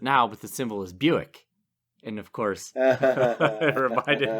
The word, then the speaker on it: Buick: And it looked a lot like the word quick. So my brother and I called it Bwick. Which isn't that funny. Because it's perfectly logical that we would call it Bwick.